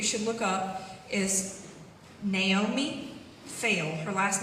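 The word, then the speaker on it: Feil: The video on YouTube that you should look up is Naomi Fail. Her last name is spelled F-E-I-L.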